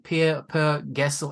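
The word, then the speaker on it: Per Gessle: And by the way, quick side note, how you pronounce the name? Per Gessel.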